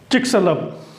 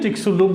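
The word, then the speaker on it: Chicxulub: चिक्सलब। चिक्सलब बोलिए, चिक्सलुब बोलिए, जो बोलिए, प्रोनाउंसिएशन से कोई मतलब नहीं, हमें जानना है।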